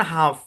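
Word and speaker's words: half: যেমন ধরেন হাফ, মনে রাখতে হবে এলটা সাইলেন্ট।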